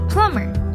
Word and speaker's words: plumber: quiet question and queen some roman english words have a silent b like plumber here are some more